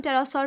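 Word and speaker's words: pterosaur: researchers ने टेरासॉर, इसको हम टेरासॉर प्रोनाउंस करते हैं, टेरासॉर स्पीशीज जो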